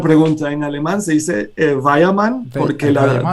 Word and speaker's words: Weyermann: hace una buena pregunta en alemán se dice vaya mal porque la w se pronuncia como una vez para nosotros por una en inglés sería guay hermán y yo creo que en español todo el